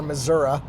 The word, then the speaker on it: Missouri: Hey guys, so we are in Chesterfield, Missouri, or Missouri, as I think they pronounce it down here.